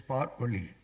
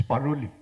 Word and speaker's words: Paroli: What struck me most is his beautiful name, because it's Paroli.